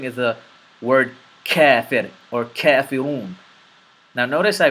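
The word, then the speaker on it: كافرون: Kafirun.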